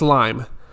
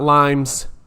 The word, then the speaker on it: Lyme: So Andy said, I can't see a couple pills working against Lyme's and 5 co-infections. Again, real quick, guys, it's Lyme disease. Lyme disease. Or just Lyme. It's not Lyme's, but that's okay.